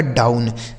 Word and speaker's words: down: ठीक है, DOWN, डी से हो गया दोस्तों ड, इस OW का उच्चारण आऊ हो गया, और N से न, यह लिखा गया आपका डाउन।